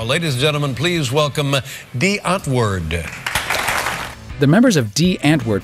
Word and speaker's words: Die Antwoord: It's just Afrikaans for the answer. And if the sleepy old fogey David Letterman can get it right, so can you. Tomorrow, ladies and gentlemen, please welcome Dee Antwoord.